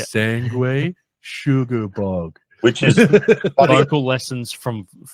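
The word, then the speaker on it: Sanguisugabogg: I'm pretty sure Scotty had this is how you say it, Jay. Sangway, say it with me. Yeah. Sangway Sugar Bog.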